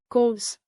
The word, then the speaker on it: kos: Plus kos like cos.